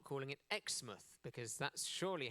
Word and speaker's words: Exmouth: So let's talk about Xmouth. Xmouth. Now you might be thinking why am I not calling it Xmouth?